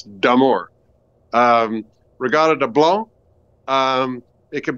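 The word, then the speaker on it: d'Amour: D'Amore, and it's, I usually hear it as D'Amore, which there's D apostrophe, which means it's D'Amore.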